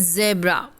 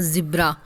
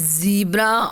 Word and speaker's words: zebra: Children, it's not zebra or zebra. It's zebra or zebra. You pronounce it as that, not zebra. Because some of us pronounce sometimes wrong. So correct pronunciation is zebra or zebra.